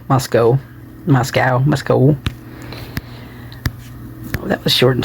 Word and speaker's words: Moscow: It's still in Moscow, pronounced with an O. Moscow.